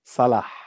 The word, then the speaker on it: Salah: Sonia bin Sonia Salah. Bensala. Is it I Salah think or it's Sonia. Salah? No, you have to pronounce the H like Like a when you're done drinking Coke.